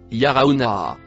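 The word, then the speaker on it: يرونها: Le mot bleu noir se prononce yarauna.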